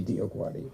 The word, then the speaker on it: DioGuardi: And I had to go up to them to say, no, learn how to pronounce this name, because you are praying when you say Dio Guardi, and you don't even know it.